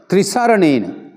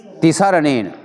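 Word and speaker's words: tisaraṇa: दीजिए ओकास अहम बनते त्रिसरण यह त्रि कहता है त्रि त्रि सारने कहा तो संस्कृत बन जाता है त्रि नहीं इसको ति होना चाहिए यह गलत रनेन त्रिसरण नहीं कहना ति सरण सहा पंचशील दम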